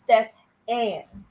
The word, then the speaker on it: Stephan: He said that Steven's name is actually pronounced Stephan.